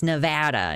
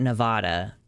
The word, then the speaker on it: Nevada: It's like how I don't respect people who say, it's Nevada, not Nevada.